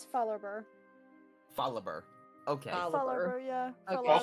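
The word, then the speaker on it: Fallarbor: I pronounced it as Fall Arbor for years. It's Fallerber.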